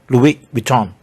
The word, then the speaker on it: Louis Vuitton: S no sound, and then the N no sound. Louis Vuitton.